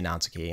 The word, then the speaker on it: Natsuki: of those people who emphasize the first syllable so i say natsuki and i say naruto